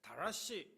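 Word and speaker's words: דרש: 자, 여기서 찾다라고 하는 단어가 나오는데 다라시 이렇게 발음을 합니다.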